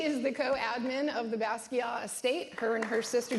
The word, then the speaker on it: Basquiat: just met, Lisan Basquiat, and by the way, the T is silent. She Thank educated you. me, and That's apparently right. my art teachers were wrong, so if all you guys are saying the T, stop it.